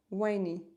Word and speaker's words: whiny: Winnie is pronounced like wine. Thank you. Sushi whiny.